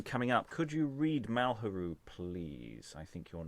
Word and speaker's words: Malheureux: I mean, it's the kind of name where, frankly, keeping a sharpness of its pronunciation, it's just Malheureux.